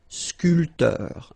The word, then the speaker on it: sculpteur: This P here is not pronounced. So, sculpteur.